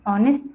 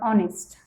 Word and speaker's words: honest: Six Honest Serving Men. Let us see this title of the poem in detail. Now here take the word honest.